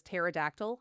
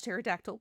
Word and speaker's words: pterodactyl: with the P, was pterodactyl. I forget that there's the P, the silent P on pterodactyl.